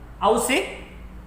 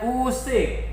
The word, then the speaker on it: usik: Apa bacanya? Ausik? Bukan, bacanya usik. Berarti ini ini bunyi u ya. Alif dan waw bersama seperti ini, bukan au tetapi u. Jadi bacanya usik.